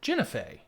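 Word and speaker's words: Guenhwyvar: I will say, in the podcast, in the audiobook I listened to, they do pronounce it Guinevere.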